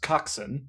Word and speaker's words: coxswain: It's pronounced coxswain, the person at the back of the boat who's calling out, like, you know, the cadence of how you should row. The cocksucker? Yeah, exactly. It's spelled coxswain, but that's not how it's pronounced.